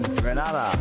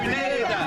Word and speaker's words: Grenada: Say it right. It's Grenada. It's not Grenada. It's Grenada. Say it right.